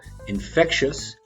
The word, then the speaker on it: infectious: words in more detail infectious stress on the middle syllable infectious caused by germs or